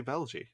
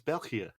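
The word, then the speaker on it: België: You cannot pronounce Belgi properly, because you always say Belgi. It's Belgia. Oh, is it because it has the 2 dots above the E? Yeah, and also the G letter in Dutch pronunciation is G.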